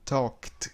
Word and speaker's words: talked: Talked, ó, esse kt, kt.